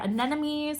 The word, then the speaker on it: anemones: They're anemones, I believe is how you pronounce it.